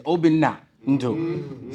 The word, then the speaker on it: Obina Ndu: Actually, the proper way to say it is Obina Ndu. So don't call me Obi-Wan Kenobi, none of that stuff.